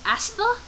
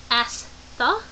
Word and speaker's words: Astha: Anyway, how to pronounce that one is Astha. Astha.